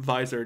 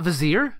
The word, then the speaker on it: Visor: Hold on, how did you just pronounce it? Visor Jeff Hogg? It's not Vizier? Nope.